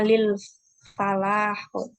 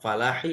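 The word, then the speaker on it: للفلاح: Jawabannya Huma lil falah. Lil falahi. kurang jelas. Coba diulangi bacanya. Huma lil falahi. Iya, falahi ya, hi. Ya, dalam nih.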